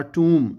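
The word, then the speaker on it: tomb: अ टूम, ये B silent है dear students.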